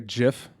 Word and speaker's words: GIF: So like a GIF? Yeah. Or a GIF? GIF or GIF. The answer is GIF.